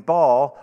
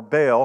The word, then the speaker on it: Baal: a contest let's have a power encounter between ball or baal however you want to pronounce it and yahweh so it goes up